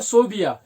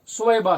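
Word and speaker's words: ثويبة: अब ज्यादातर जो उनका नाम है वो सोबिया, ज्यादातर कुतुब में यही लिखा जाता है इसी प्रोनाउंसिएशन के हवाले से, लेकिन सही नाम जो है सुवैबा है, सुवैबा, यानी बा की जगह या है और या की जगह बा है, सुवैबा, सुवैबा।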